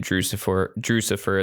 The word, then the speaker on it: Drewxcifer: Yeah, guys, you can find me on any social media platform there is under the sky at Drewcifer. That is DREWXCIFER. It rhymes with Lucifer.